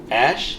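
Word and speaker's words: X Æ A-12: Ash? Yeah. Is that Like the right? XAE was pronounced Ash, and then A12. So Ash A12.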